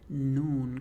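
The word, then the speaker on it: ن: That's where noon comes from. Noon. Very similar to the N sound in English.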